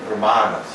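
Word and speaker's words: Brāhmaṇas: Então, aqui o segundo A é longo, brahmanas.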